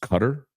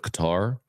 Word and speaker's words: Qatar: 911 we learned that it's actually pronounced cutter instead of Qatar uh and then the